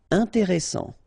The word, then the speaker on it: intéressant: Intéressant. Double S, same thing here. S, strong, and it opens the pronunciation of your E.